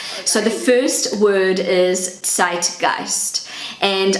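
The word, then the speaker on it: Zeitgeist: the first word is site ghost and I'm not a native German speaker my pronunciation is not perfect so this is what it sounds like on Google translate zit gist so the meaning of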